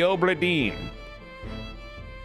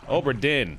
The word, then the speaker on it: Obra Dinn: Return of the Obra Dinn.